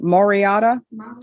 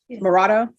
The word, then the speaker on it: Morado: And are you Miss um Moriata? Morado. I keep adding syllables to the name.